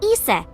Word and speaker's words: Isis: Horse's mom is named Isis, but in ancient Egyptian, it's pronounced closer to Isa or as h.